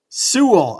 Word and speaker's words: Sewell: Sewell.